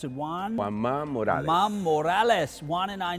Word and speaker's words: Juan Ma Morales: I'm going to make him pronounce it Juan. Juan Ma Morales.